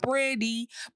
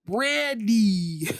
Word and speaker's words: Brandy: Not Brandy, Brandy. that's how we pronounce it.